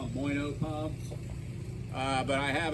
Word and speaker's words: Moyno: cavity pump uh there's a manufacturer called moyno that's spelled m-o-y-n-o so a lot of people just call it moino puffs uh but I have an example of